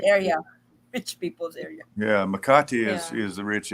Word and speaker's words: Makati: saying is Makate. I guess that's how you say it. Ah, Makati.